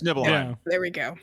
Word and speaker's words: Nibelheim: Like, it's Nibelheim. Yeah. there we go. It's Nibelheim. It's Nibelheim. So that's how you pronounce his Nibelheim.